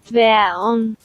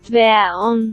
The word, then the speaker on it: Dværgen: In the original Danish, it's called, however you pronounce this word. Dværgen.